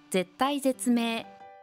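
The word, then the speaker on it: 絶体絶命: 哀楽が激しい絶体絶命追い込まれて切羽詰まった状況であること絶が 2 回ありますが読み方が違うので注意してくださいね母が大事にし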